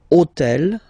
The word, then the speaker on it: hôtel: took on purpose this hôtel, okay, because it starts with H, but remember that in French we don't pronounce H, okay, so basically the first sound of the word is the vowel O, okay, so for the